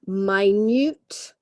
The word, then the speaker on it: minute: was worked out in my Newt detail okay so we have different pronunciation for different meanings okay quite different minute periods of time and minut meaning what does my Newt mean okay Ambrose got